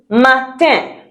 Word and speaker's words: matin: I N also gives un. Un as in matin.